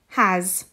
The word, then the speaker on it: has: got two adjacent consonants has the s sound at the end makes a z sound has his the s sound